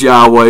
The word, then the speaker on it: Yahweh: or even if you're in our Heavenly Father Yahweh or what a lot of people like to say is Jehovah Yahoo Yahoo on and all these other silly things his name is Yahweh yhw H that's how it's pronounced and this is how you know if